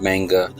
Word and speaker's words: manga: I usually pronounce it manga, but I believe it's pronounced manga.